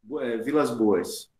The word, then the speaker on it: Vilas Boas: Vilas Boas. Vilas Boas. Tá mais fazendo pra nome de cidade, mas tudo bem. É porque é um sobrenome composto. Não é só Boas. É Vilas Boas mesmo.